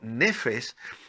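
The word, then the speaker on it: נפש: Esta importante palabra hebrea, que es una palabra que se pronuncia en hebreo como nefes, se ha traducido como alma y aparece más de 700 veces, más de 750 veces en el Antiguo Testamento.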